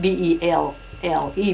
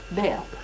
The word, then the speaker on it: Belle: But we spelled it B-E-L-L-E, but we pronounced it Belle.